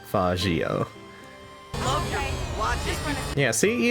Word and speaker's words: Faggio: Not calling it with a hard G. I'm gonna say it's Faggio.